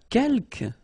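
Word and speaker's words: quelques: the second one uh Kel you don't pronounce the final s here Kel means few okay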